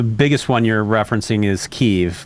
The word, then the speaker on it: Kyiv: The biggest one you're referencing is Kyiv, which is traditionally pronounced Kiev in Russian.